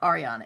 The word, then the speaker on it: Ariana: Is it Ariana or Ariana? It's Ariana, right? Harry. Does it Yeah, it matter? rhymes with Harry. It's Ari. Ariana.